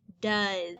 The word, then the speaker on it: does: d o e s so the d makes the d sound and our o instead of making a o or ah sound actually makes the sound like a u and the e s makes the z sound almost like a z so when we put it together we get d uh uh and i had somebody